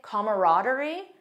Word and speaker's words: camaraderie: Mine is camaraderie because I love that feeling of closeness, trust, friendship. It's a positive word. And also, I had no idea there was another pronunciation that some people say camaraderie.